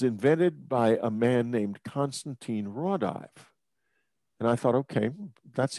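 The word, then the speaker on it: Konstantīns Raudive: This is not, he pronounced it wrong. It's Constantine Rodive.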